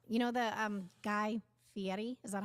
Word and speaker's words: Fieri: you think so you know the um Guy Fieri is that how you say it yes no Fieri yeah come on here so Diners Drive-Ins and